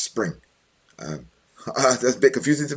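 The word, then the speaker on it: Xpring: have a new initiative called Xspring, pronounced Spring.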